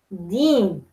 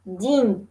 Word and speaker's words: дин: Дин религия. Понятно, да? Мы не говорим дин, дин. Нет, мы говорим дин, дин. То есть он твердо так звучит, хорошо?